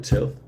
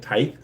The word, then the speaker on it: tithe: The tilth. Is that how you say it? Tithe.